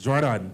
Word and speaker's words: Jordan: It's pronounced two different ways. So do tell me if it's Jordan or Jordan. It's Jordan.